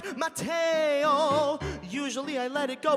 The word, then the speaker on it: Mateo: Mateo, like mayo with a T in the middle.